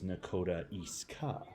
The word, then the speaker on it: Nakota Isga: is now becoming the nakota iska ward which is spelt nakota isga but apparently according to the city website is nakota eastka so that's kind of interesting ward 2 which is